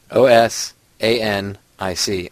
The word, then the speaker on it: Osanic: YouTube channel Len osanic OS a n i c osanic just like it sounds spell it out anyway